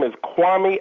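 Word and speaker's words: Kwame: Usewami as an example. You can see I searched by author this time and I'm going to do the name pronunciation bywami Alexander. Hi, my name isWami Alexander.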